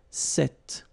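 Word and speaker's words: cet: if you listen carefully the masculine form here set and The Feminine form here set you write them differently but then you pronounce them the same way all right for the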